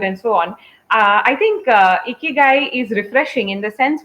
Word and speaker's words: ikigai: to say this that it is pronounced a key guy it has to make you smile otherwise you're not saying it right that's something Tim tamashiro